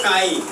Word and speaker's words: chi: देखिए सबसे पहले सिंबल लिखिए, सिंबल लिखिए काई, काई को अच्छा से लिखिएगा, एक्स लिखिएगा और एक्स को थोड़ा सा पुल कीजिए, मतलब खींचिएगा, समझे। सिंबल है आपको काई, काई का स्पेलिंग हो गया CHI।